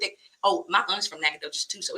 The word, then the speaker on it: Nacogdoches: Sir over there in the corner come on Nacogdoches listen y'all I'm clapping up next that's my